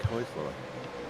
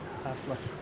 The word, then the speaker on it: Heusler: The biggest gainer is Nick Hessler, or Hosler. How do you say it, Mark? Nick Heusler. I've always called him Hustler.